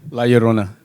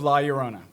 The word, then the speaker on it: La Llorona: on it yeah and you got to roll your R yeah the double L just means a Y I can think of